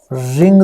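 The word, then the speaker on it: wring: अब इसके साथ ही एक और एक्शन है, रिंग द शर्ट। तो रिंग होता है निचोड़ना, तो यहाँ पे W साइलेंट है तो व्रिंग नहीं कहना इसको, रिंग द शर्ट है, निचोड़ने को कहते हैं।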